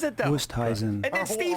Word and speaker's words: Oosthuizen: Everyone in the media pronounces it Oosthuizen. Wusteisen. Or And they asked Oosthuizen. him when he first burst onto the scene, do you have the audio? Wusthuizen.